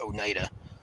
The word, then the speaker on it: Oneida: There's a road name where I live, or close to where I live, spelled just like that, and it's pronounced Oneida.